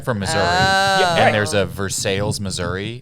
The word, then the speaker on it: Versailles: Verses. That's like their slogan is is a pronunciation key for a town.